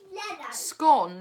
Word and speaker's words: scone: families it appears that scone is the posh northern away and slang people although Daniel is pulling a bit of a face right now it's gone as in gone get it right woman